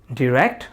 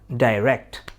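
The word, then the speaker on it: direct: ডি দিয়ে সর্বশেষ যেই ওয়ার্ডটি আমি বলছি সেটি হচ্ছে ডিরেক্ট বা ডাইরেক্ট। দুটি উচ্চারণই কারেক্ট, ডিরেক্ট বা ডাইরেক্ট।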